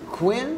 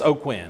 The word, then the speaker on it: O'Quinn: so this is paul is it quinn it's o'quinn oh quinn okay paul oakland not spelled